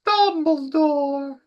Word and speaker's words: Dumbledore: Harry Potter yeah Harry Potter as well it's pronounced Dumbledore we'll probably get to that yeah um yeah